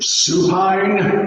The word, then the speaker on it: supine: back again supine position supine rhymes with spine one leg straight one